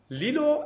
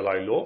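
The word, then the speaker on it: LILO: م جدیدتر میبینیم جلوتر لیلو اولین سیستمی که حرف می‌زنیم ما هر سه تا اینا رو حرف می‌زنیم لیلو حالا یا لایو من بهش میگم اینجا لیلو تلفظ درستش امیدوارم این باشه گراب و گراب دو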